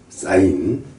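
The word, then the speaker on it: sin: 사인이라고 읽어요. s 사인이 사인 코사인 코스라 그러니 코사인을 읽어요.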